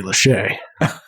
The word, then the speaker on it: Lachey: Fascinating pronunciation. Don't want to correct you. Lachey? Is it Lachey? It's almost certainly Lachey.